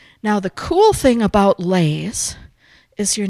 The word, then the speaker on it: lei: It's called it's not called a lei. You have to say it very carefully because every sound is pronounced in Hawaiian. So it's a lei. Yeah, you got to get that up.